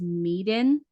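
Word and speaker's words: Man of Medan: So you have like Man of, I think it's pronounced Meeden, Until Dawn, The Quarry, um, what is this one?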